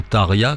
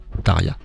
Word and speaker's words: Tarja: Et alors, effectivement, depuis Tarja ou Tarja, comment tu prononces, Julien, là, Tarja, en mode finlandais.